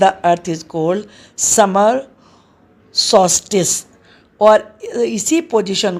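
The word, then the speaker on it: solstice: इसमें L silent रहेगा, सॉल्स्टिस। सॉल्स्टिस क्या बोलना है?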